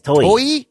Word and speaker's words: Toei: In the 70s, Marvel and Toei, how do you say the name of that? Yes, Toei.